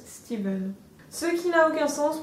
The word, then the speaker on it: Stephen: D'ailleurs, j'ai entendu dire qu'on était censé dire Stephen King et pas Stephen, parce que l'anglais est une langue étrange et que ce prénom, même s'il s'écrit Stephen, il se prononce Steven.